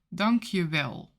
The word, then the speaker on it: dank je wel: Dank je, or dank je wel. If it's more formal you can say dank u, or, dank u wel. So, it's basically pronounced as if it is one word, dankjewel, or, dankuwel.